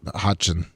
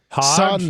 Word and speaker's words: Hodgson: Ho- Hopset- Hotchin. Hodgson. Hotchin. Hod- Hod? Hodgson. No, no, Hodgson. Hod? Son. That's how you pronounce it.